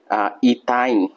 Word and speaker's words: ইথাইন: অ্যালকেনের ক্ষেত্রে কি ছিল, 2টা কার্বন থাকলে ইথেন অ্যালকেনের ক্ষেত্রে, কিন্তু এর ত্রিবন্ধন থাকার কারণে ইথ উচ্চারণ হবে, কিন্তু এর সাথে কাইন আছে, তাহলে আইন উচ্চারণ হলে কি হবে, ইথাইন। যদি বলি আমি 3টা দিয়ে করব, 3টা কার্বন, আমি দিলাম 3টা কার্বন।